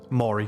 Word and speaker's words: Mori: We were teleported to the plane of how do you say it again? Amori? Namori? Mori, just Mori. Oh, Mori.